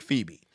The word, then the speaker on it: Phoebe: And I had my little brain could not fucking wrap around why the fuck Phoebe is supposed to sound like Phoebe.